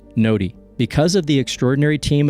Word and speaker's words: Gnodi: Our first primary blockchain is called the Ny blockchain. That's spelled G N O Di and it's pronounced Ny.